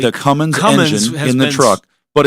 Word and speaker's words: Cummins: let's make sure we say it correctly the cumine in the truck but it's part of ram